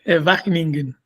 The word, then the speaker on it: Wageningen: ¿Cómo se pronuncia, Gerardo? Es Wageningen.